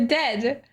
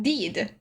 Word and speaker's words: dead: The dead. It's said like bed, not dread. Not deed. What?